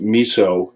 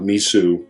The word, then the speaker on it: miso: Mis okay uh edit it's pronounced miso not misu I always say that